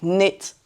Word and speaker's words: knit: Le reste tant pis si vous savez pas prononcer tout mais net on ne prononce pas le cas.